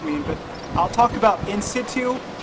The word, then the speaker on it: in situ: but i'll talk about in situ in situ or in situ as you pronounce it doesn't really matter to me means as it was